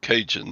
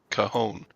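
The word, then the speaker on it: cajón: And that's not cinjun. That's kahon.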